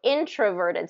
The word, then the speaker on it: introverted: pronunciation introvert verted so introverted so it is that it's going to be first syllable stress so you want to make sure in is the one that stress introverted okay introverted okay so